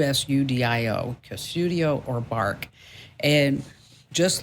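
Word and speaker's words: Qustodio: bark is one okay another one is called cudio and spelled with a q q us udio cudio or bark and just like we talked about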